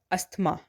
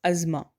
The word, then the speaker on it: asthma: ASTHMA, इट्स नॉट अस्थमा, इट्स अज़मा।